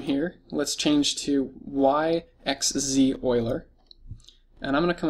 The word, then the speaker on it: Euler: you notice how it it looks like uler but it's actually Oiler that's just the way it's pronounced so there's several different